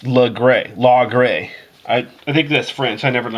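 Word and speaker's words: Laguerre: been pronouncing it wrong look cooler here it's pronounced look gray law gray I think this French I never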